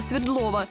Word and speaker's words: Свердлова: светлого так нам сюда местные жители в названии делают ударение на букву е хотя свое имя улица получила в честь революционера якова свердлова идем по прямой к